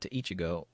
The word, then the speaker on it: ichi: out nicknames like - Ichigo code zero one five with one being pronounced Ichi and five being pronounced and go in Japanese and that also forms